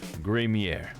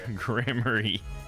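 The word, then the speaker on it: Gramarye: the true Miracle of troop gramier or sorry grammary wanted my own pronunciation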